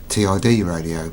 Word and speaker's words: TIDRADIO: one of their products company is tid radio I think that's how you pronounce it I'd rather call it TI radio but never mind so